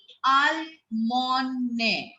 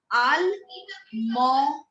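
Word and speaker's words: Allemagne: Germany is called Almone. This G is silent. We don't speak out the G. It is called Almone. Almone.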